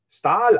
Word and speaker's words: Staël: schwedische botschafter das optimum dass der name ist da stahl ausgesprochen wird muss daher kommen dass es sich bei dem die im namen ursprünglich um ein norddeutsches dehnungs handelte wie den ortsnamen soest oder kevelaer warum irgendwann das thema